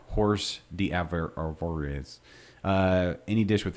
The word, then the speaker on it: hors d'oeuvres: types of hors d'oeuvres hors d'oeuvres is one of those words you look at you know how do you pronounce that hor d'oeuvres yeah horse D ever or is any dish